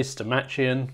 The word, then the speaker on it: Stomachion: I really want to say Stomachion, but I think the correct pronunciation is Stomachion.